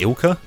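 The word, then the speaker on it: ILCA: is it's made by i think it's pronounced ilka i-l-c-k sorry i-l yeah i-l-c-a i should say um it will come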